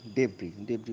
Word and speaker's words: debris: ইট is suspected that মোর বডিজের পর ইজ হবে না নিশ্চয়ই, আর আন্ডার ডেব্রি মানে ধ্বংসস্তূপ, এসের উচ্চারণটা হয় না।